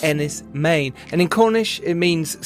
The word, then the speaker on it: Enys Men: It looks like Enys Men is pronounced Enys Men, and in Cornish it means Stone Island.